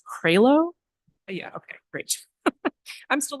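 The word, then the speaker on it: Crailo: And I think it's pronounced Cralo.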